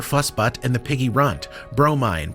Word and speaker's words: Bromine: Steam Vision, conductor of the interdimensional time-spanning hype train, Dave Harold, Wisecube, Dirty Diaper Fussbutt and the Piggy Runt, Bromine, pronounced Bro, Mine, Main Humdinger, Mother of Pearl, Fiona